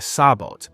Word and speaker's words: sabot: Very interesting one is M48 SLAP which fires a subcaliber tungsten penetrator inside a sabot pronounced sabo giving it very high velocity.